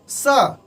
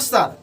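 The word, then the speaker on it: sir: सा होना चाहिए, नॉट सर, सा।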